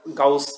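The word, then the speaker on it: Gauss: ফিল্ডের একক হচ্ছে যে আমরা গাউস বা গস যে দুটা উচ্চারণ করা হয়, কেউ কেউ এটাকে গস বলে কেউ কেউ গাউস বলে।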